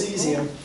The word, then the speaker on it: cesium: And it has a British spelling and has a US spelling, but it's pronounced seesium.